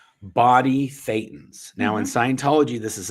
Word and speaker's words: Thetan: Just remember, Thetan rhymes with Satan, and you got it good.